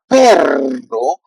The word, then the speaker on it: perro: So in this case, if you won't put the two R, that would be like pero, like better, pero, and that means but in when you translate. Pero means but perro means dog.